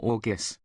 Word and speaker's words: Jurgis: One, pronounced Jorgis.